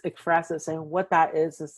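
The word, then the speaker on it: ekphrasis: I may be pronouncing it wrong, but there's this Greek word efrasis, I think it is. It's e k p h r a s i s. So yeah, it's efrasis.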